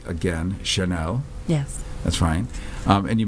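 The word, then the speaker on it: Kernell: And we've been talking to Amanda, and I'm going to say it correctly again, Chanel. Yes. That's fine. And you may repronounce it someday for the benefit of all of us here, wherever here is.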